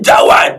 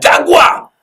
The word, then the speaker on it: Jaguar: qui a été voiture Jaguar. Et il vient à l'église, il dit Aïbaï Jawa. Donc, il y a quelqu'un qui a fait série A, tout ça, qui lui dit non, not Jawa, Jaguar.